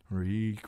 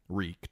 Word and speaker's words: Reek: "Reek, reek, it rhymes with leek.